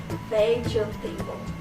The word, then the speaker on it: vegetable: Some people say vegetable as vegetable, but it is wrong. The right one is vegetable. It's only 3 syllables.